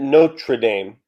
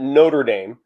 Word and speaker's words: Notre Dame: So I notice you pronounce it Notre Dame. Some pronounce it Notre Dame. Why the accentuation on the R there? I guess I probably learned it growing up from my dad.